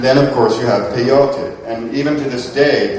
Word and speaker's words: peyote: And this again was called peyote, and some people say peyote, but it really is accented peyote.